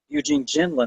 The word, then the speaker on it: Eugene Gendlin: Because it is all very, I think, Eugene Gendlin, I think is how you pronounce it.